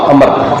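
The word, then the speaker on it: عمرو: अमर, N meme रे वाओ, ऊपर जबर है, वाओ साइलेंट है, अमर असल नाम उनका हाशिम।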